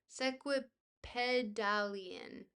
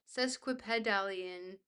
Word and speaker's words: sesquipedalian: But let's add sequipedal sequipedalian. Sesquipedalian. Let's just look up how it's pronounced.